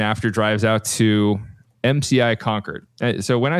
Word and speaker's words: Concord: So this is a prison facility in Concord, Massachusetts, which is saying it actually wrong. Right across the street from You're saying it wrong. Hit me. Concord. Concord. All right. Thank you, Boston guy.